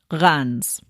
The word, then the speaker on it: Reims: Reims. Is that right? I hope I'm right. The EI is said like a short A, and then you don't say the M.